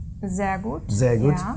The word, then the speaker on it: sehr gut: And then sehr gut. Sehr gut. Sehr gut, yeah. not sehr gut. Yeah, very good. Sehr gut. Because that's the rule in German pronunciation, so it must be like this, the buzzing.